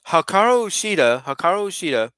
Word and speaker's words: Hikaru Shida: Okay, so the next match is Hikaru Shida, pronounced it there right.